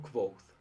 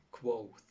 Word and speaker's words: Kvothe: Me llamo Quoth. Se pronuncia Quoth.